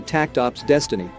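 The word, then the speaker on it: takt op. Destiny: It'd be difficult enough to read even without the invisible S, but Seiji promises there'll be more to Takt Op's Destiny, as it's pronounced, than funky linguistics.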